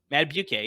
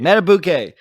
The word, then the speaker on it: Madubuike: Madubuike, yeah. Matabuke, I believe. Matabuke.